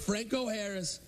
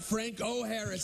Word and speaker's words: Franco Harris: Once I used to party with Franco Harris. Interesting guy, Franco. I think his name's Franco, right? It's not Frank O'Harris.